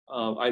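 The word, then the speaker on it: 癌: looking through literatures that relates to our research i learned that you know many many hundreds of years ago the pronunciation of cancer in in men you know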